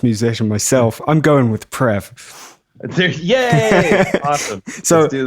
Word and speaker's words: Preve: So Preve is fine. That's what all my elementary school teachers called me. It wasn't until I became a pretentious musician that I actually started using the proper French pronunciation.